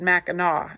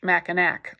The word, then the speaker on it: Mackinac: record island hunter noticed that she said Mackinac instead of this harsh machan AK like most strangers yes